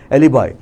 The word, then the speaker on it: alibi: तो इसका प्रोनाउंसिएशन क्या होता है एलिबाई का? पहला प्रोनाउंसिएशन क्या सुनोगे, क्या है, एलिबाई.